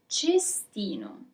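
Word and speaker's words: cestino: Bin is chestino.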